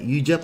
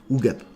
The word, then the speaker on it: Ugep: Ujep or Ugep? Ugep.